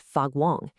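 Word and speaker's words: 发光: The term is fagwong, pronounced fagwong, and it literally means to glow or to radiate light.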